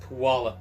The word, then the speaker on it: Puyallup: pronounced Puyallup.